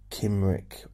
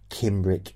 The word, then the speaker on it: Cymric: And I don't know if Cymric is the correct way of pronouncing it. It's a C-Y-M-R-I-K. Cymric or Cymric. Cymric. Anyway, I'm going to call it Cymric.